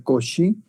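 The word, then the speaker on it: Cauchy: y hoy leer suscribe couch y euler se pronuncia coche hoy de fuerzas y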